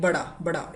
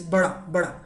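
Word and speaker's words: बड़ा: It's not a D sound again. Though I have written there D, it's like the pure Hindi letter. It's not Devanagari letter. This dot structure, if you see anywhere, then slightly R sound comes, slightly R sound comes. Like it's bada. Just like in ladki and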